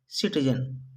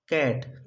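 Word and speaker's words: cat: जैसे सी ए टी, कैट। इसे हमें सेट नहीं पढ़ना है, सी एट नहीं पढ़ना है। क्या पढ़ना है? कैट।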